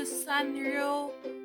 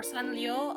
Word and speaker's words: Sanrio: I call this the SanRio pen or SanLio. I'm not sure how to pronounce it. This is Japanese. I'm assuming the r is more like an l.